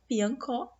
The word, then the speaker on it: piancó: Já se a sílaba tônica estiver na última, como é o caso aqui da palavra piancó, a palavra então vai ser uma oxítona.